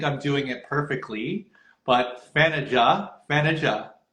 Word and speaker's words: Thaniath: rehearsal this morning where she was helping me pronounce her name correctly. I still don't think I'm doing it perfectly, but Thanaja.